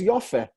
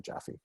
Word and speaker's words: Jaffe: freshman roommate in college the name comes to us through german where the j has a y sound and the traditional ashkenazi pronunciation of the first vowel here was oh we've mentioned this before so it was yafe but we say in modern hebrew your fair became joffrey or jaffe um but i don't